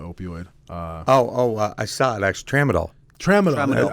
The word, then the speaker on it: tramadol: Tramadol. Tramadol. That starts with a T. Just for the record, Yeah. T, not a P. Like, P. Yeah. The P is silent. T.